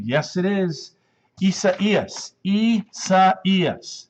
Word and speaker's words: Isaias: And the way to pronounce this is Isaias. Isaias. That's how we pronounce it. Isaias.